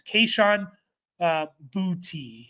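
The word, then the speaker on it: Kayshon Boutte: And I'm just looking at the pronunciation. It's Kayshawn Boutte.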